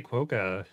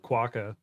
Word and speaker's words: quokka: quoka instead of quokka quokka sounds like the word squawk I still want to use quote because that's what I've been using for years sounds like you're saying the word cracker in an Australian accent quokka oh look at